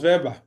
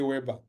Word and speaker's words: Weber: So Weber, I say Weber, I don't say Weber, because we pronounce the W as V.